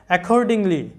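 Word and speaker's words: accordingly: বিষয় লক্ষ্য রাখবে যে যদি ডাবল কনসোনেন্ট থাকে তো বাংলায় কিন্তু উচ্চারণ করার সময় আমরা ডাবল কনসোনেন্ট এর উচ্চারণটা লিখবো না ডাবল কনসোনেন্ট থাকলেও সেটার উচ্চারণ একটাই হয় যেমন এখানে আমাদের ডাবল সি আছে আমরা কিন্তু বাংলা উচ্চারণটা লক্ষ্য করো একর্ডিংলি বানানটা এখানে কিন্তু একটাই ক ব্যবহার করেছি মানে সি এর উচ্চারণ একবারই হয়েছে আমরা ডাবল কিন্তু করবো না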